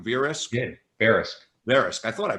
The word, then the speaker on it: Verisk: Did I pronounce that right? Verisk?